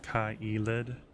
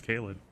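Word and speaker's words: Caelid: It's pronounced Kaelid. I mean, I don't think it is it? I thought it was pronounced Kalid. So. Yeah. Kalid.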